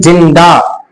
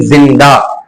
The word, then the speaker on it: زندہ: کہہ رہے ہیں حسین جندہ، جبکہ لفظ کیا ہے حسین زندہ، لیکن کیا کہہ رہے ہیں حسین جندہ، زمین نہیں جمین۔ جن کا تلفظ تک